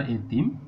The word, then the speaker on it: এতিম: একটি শব্দ লিখলে আমরা এতিম। দেখো, এর পরে শব্দের গোড়াতে বা শুরুতে এ ধ্বনি রয়েছে এবং তারপরে ই ধ্বনি রয়েছে, তাহলে এর উচ্চারণ স্বাভাবিকভাবে হবে এ তিম।